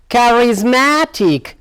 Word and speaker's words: charismatic: look now charismatic charismatic so here now the stress lies here charismatic this word is consisted of four syllable chords so the stress lies on here charismatic charismatic good well